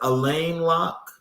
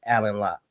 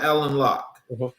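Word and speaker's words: Alain Locke: Is it Elaine Lock? Um, it's spelled that way, but it's Alan Lock. Well, Alan Lock.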